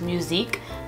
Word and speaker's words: musique: her music but in French is called it's pronounced musique and yeah I would love to name my